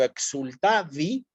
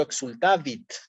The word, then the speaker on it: exultavit: No es lo mismo entonces si yo digo exultavi que si yo digo exultavit. Tenemos que hacer siempre un esfuerzo por pronunciar toda la palabra completa.